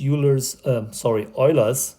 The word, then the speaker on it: Euler: That's how you say it, in where Euler comes from a German-speaking area, and you pronounce what you say normally Euler. Here in the US, it's actually Euler.